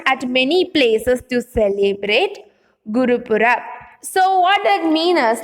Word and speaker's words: Gurupurab: So the pronunciation is like Gurupurab.